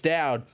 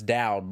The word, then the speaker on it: Dowd: him i was like no it's dowd like loud with a d and then um yeah